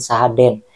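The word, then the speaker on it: Sahadeen: Empat tersangka ini ketiga nelayan Aceh, yang kesatu lagi itu orang Rohingya yang tinggal di Medan bernama Sahadin ataupun Sahaden, D-E-E-N, E-nya 2 ya.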